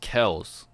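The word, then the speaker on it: Kelce: that's funny wow travis kel you you you see he uh he said his last name is actually pronounced kells yeah that's what that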